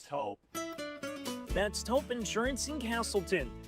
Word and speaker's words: Toop: No, I'm pretty sure it's Toop Insurance. Maybe Toupee. Could be Toupee. Yeah, I don't know. Or Taupe Insurance? Maybe? I don't think so. Say it right. That's T-O-O-P. That's Taupe. Oh, it's Taupe.